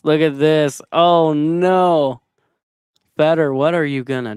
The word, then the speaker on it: Fedor: To pronounce his name in Russian, you roll the end R. So it's okay. I'm gonna try to do this. Build up enough confidence to do this. It's FEDOR.